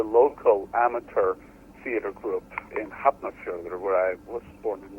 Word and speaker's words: Hafnarfjörður: I mean, when I started with the local amateur theater group in Hafnarfjörður, where I was born and raised. Oh, so that's how you pronounce it.